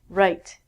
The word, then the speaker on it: right: It has the exact same pronunciation as this, meaning your right hand. Right is what I just did here on the board. Pronunciation is the same as this. Again, we don't say the W.